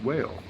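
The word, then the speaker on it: Wahl: It's not wall. It's whale. Whale clippers, man. Pronounced wall. They're German. It's German.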